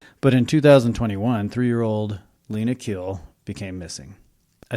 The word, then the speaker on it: Khil: It's Khil, Khil.